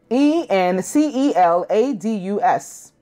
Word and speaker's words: Enceladus: the two inner ones mimus and in insuladas e n c e l a d u s I think that would be how you would pronounce it Enceladus the first one was mimus